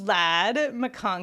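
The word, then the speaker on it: Ladd McConkey: It's pronounced Lad McConkey. Yes, and it's fun to make.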